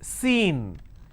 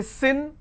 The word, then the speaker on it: scene: the consonant sound sir now it's seen can i say sin now sin if i pronounce this as it will become a different word s i n so i need to use long vowel sound c now